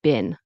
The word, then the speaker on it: been: And in the next example, how is stressed so how and it's technically pronounced been, but Americans and Canadians will say been like B I N.